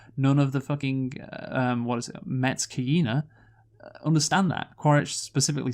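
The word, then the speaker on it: Metkayina: Apparently, the fucking Met Kaina, there we go, I said it right that time, don't get it, do they?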